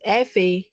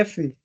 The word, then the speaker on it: FA: Okay, so should I pronounce FA or FA? It's FA. Yeah, Effie.